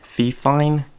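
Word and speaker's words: Fifine: the podcast with a fee fine Mike I think that's how you pronounce it fi f I and II and then I use a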